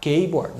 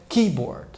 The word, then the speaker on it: keyboard: é a palavra keyboard a tendência do brasileiro é falar keyboard nada disso então é keyboard então então todas as